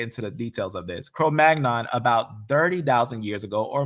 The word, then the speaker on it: Cro-Magnon: Um, Cro Yeah, Cro-Magnon.